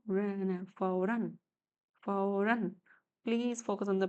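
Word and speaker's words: फ़ौरन: Fa, mother of O, ra, na, fauran, fauran. Please focus on the pronunciation of the words.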